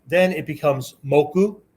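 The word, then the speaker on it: 木: Once we put that across, right, then it becomes moku, right? One pronunciation for it is moku.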